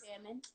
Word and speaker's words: salmon: Salmon. And for those that don't know how to say salmon, the L is silent. Yeah.